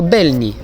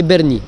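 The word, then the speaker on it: Bernini: Alors, petite erreur de prononciation, c'est la fontaine Lorenzo Belni. Apparemment, c'est Berni. Donc, la fontaine Lorenzo Berni.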